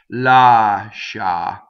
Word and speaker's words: lascia: Lascia. Okay, so that's that. The I is only there to make the sh, make it soft.